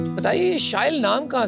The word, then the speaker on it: Shyle: So as you just said, it rhymes with style.